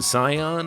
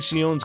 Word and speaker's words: Shion: You can call him Scion if you want, but I'm just going to pronounce it the way it's pronounced in Japanese, since that just feels right to me.